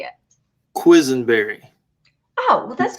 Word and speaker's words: Quisenberry: because i want to hear you say it quizzenberry oh well that's not why no it's you know i learned how to spell it like mickey mouse when i was younger